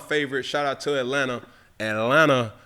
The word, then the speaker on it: Atlanta: Atlanta, the tea is silent.